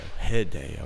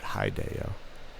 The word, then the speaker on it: Hideo: Hideo, not Hideo. Hideo.